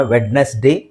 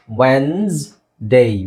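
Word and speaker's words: Wednesday: ಅನ್ಲಿಕ್ಕೆ ಇಂಗ್ಲಿಷ್ ಅಲ್ಲಿ ನಾವು ತುಂಬಾ ಜನ ವೆಡ್ನೆಸ್ಡೇ ಅಂತ ಹೇಳ್ತೀವಿ ಅಥವಾ ವೆಡ್ನಸ್ಡೇ ಅಂತ ಹೇಳ್ತೀವಿ ಎರಡು ತಪ್ಪು ಓಕೆ ನೀವಏನ್ ಹೇಳಬೇಕು ಇಲ್ಲಿ ಡಿ ಸೈಲೆಂಟ್ ಆಗಿರುತ್ತೆಇ ಸೈಲೆಂಟ್ ಆಗಿರುತ್ತೆ ಎಸ್ ೆಡ್ ಆಗುತ್ತೆ ಓಕೆ ಅವಾಗ ಏನಾಗುತ್ತೆ ವೆನ್ಸ್ ಡೇ ವೆನ್ಸ್ಡೇ ನೋಡಿ ಇಲ್ಲಿ ವೆನ್ಸ್ಡೇ ವೆನ್ಸ್ಡೇ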